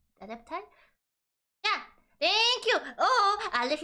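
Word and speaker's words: adepti: The adept I think it's pronounced adept, right? Adeptai. Adeptai.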